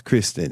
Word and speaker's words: Christen: It's Christen. So it looks like Crystal, but it's Kristen. Like anyway, it's Christine. Which again, it's like Kristen.